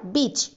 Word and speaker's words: bitch: সন মানে ছেলে, ডটার মানে মেয়ে, ডগ মেল কুকুর, আর ফিমেল ডগকে বলা হয় বিচ, BITCH। এখানে কিন্তু বানানটা খেয়াল করবে, বিচ টি এর উচ্চারণটা কিন্তু সাইলেন্ট, ঠিক আছে।